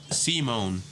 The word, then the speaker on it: Simon: I did it concerning Supreme Commander and pronounced Simone. So they were basically trying to say Seaman, but like sure Simone.